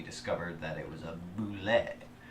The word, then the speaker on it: Bulette: We went and inspected those, and we discovered that it was a Bulette. Right? Bulette? Bulette. Bulette. If you go want. with the Gygaxian pronunciation, Alright.